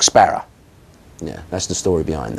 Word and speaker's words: Sparrer: But in the East End, they have their own way, as they do in any territory, of pronouncing certain words. And so Sparrow in the East End of London becomes Sparrow, Cock Sparrer.